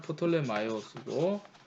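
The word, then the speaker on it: Πτολεμαῖος: 프톨레마이오스는 보통 이제 그 영어에서는 P 발음 안 해서 톨렘이라고 얘기를 하는데 그죠? 영어식 표현이고 오리지널은 프톨레마이오스고 영어에서는 톨렘이라고 그런다는 거죠.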